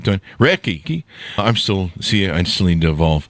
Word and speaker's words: Reiki: And is it pronounced Reiki? Is that... I heard that right, Don. Reiki.